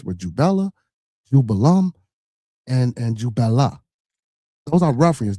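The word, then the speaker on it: Jubelum: It's Jubella, Jubello, and Jubalum, not Jubalan.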